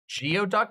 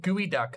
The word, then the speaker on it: geoduck: right you know what geoduck no it's called gooey duck that's how you say it all right all